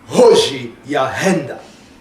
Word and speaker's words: Hoji Ahenda: My name is actually Hoji Ahenda, and the Hoji Ahenda, you have to pronounce it as if you would be replicating a thunder, so it's got to be Hoji Ahenda.